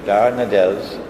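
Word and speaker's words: Dardanelles: of is it adele or that i i pronounced it wrongly last time the bosphorus and the straits of darnadels uh would now be open nato will no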